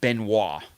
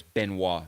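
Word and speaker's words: Benoît: pronounces his own name and he pronounces it Benoit that's what Roger does Benoit which sounds really cool but I do think that it's wrong I know that it's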